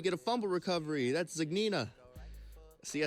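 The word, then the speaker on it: Zgonina: That's Zignina.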